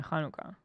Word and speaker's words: Hanukkah: we don't do that Hanukah people from Israel probably think that's the way to spell it because they're thinking hanuka right we I would say in America we say it with an H like yeah hanuka yeah Hana oh Chaka o